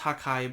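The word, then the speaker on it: 覇海: this combined attack that has multiple names it's pronounced hakkai but essentially it's been translated as uh the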